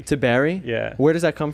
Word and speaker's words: Tiberi: land down under tybeery spawn how are you doing today i'm doing good uh in fact you pronounced my last name incorrectly ben well it's pronounced to berry to berry yeah where does that